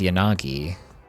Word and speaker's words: Yanagi: Whereas Yanagi is more like all of them are equal and both of the A's are being pronounced the same because I think the vowel should be the same. It's just whatever consonant comes first changes.